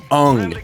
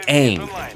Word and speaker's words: Aang: first 5 seconds when they pronounced the character Ung instead of Aang. I didn't even watch the cartoon like that, and I knew his name was Aang.